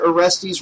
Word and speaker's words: Aresty: sa's seventh goddamn trip sawer aresty rhymes with testies haha the guy had